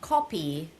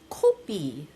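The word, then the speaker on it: 카피: I mean, it's not co copy. American would say, "Oh, copy." You have to say it like a Korean. So, it's copi.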